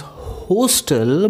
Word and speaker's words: hostel: So you guys actually used to say that word as hostel, but let me tell you the exact pronunciation, and the exact pronunciation will be hostel. So it's O sound is there, and we have used that O sound for this O, hostel.